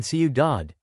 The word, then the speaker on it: ciudad: For example, in ciudad, city, the stress is on the last syllable.